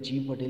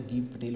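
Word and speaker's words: Gieve Patel: कोई लोग इसका प्रोनाउंसिएशन कुछ गलत कर लेते हैं, उच्चारण कुछ गलत लेते हैं, जीव पटेल लिख लेते हैं, तो इसको ध्यान देना है, गीव पटेल होता है।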